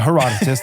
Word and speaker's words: Herodotus: even going to try to pronounce the Herodotus. but Herodotus.